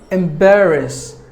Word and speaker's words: embarrass: characteristics word number four embarrass embarrass it is a verb M Bearer us there are three syllables in this word and we have distressed a second syllable bear should be given more volume embarrass meaning uneasy feelings